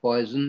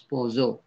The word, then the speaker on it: Poisson: It's not pronounced as poison, it is Poisson distribution.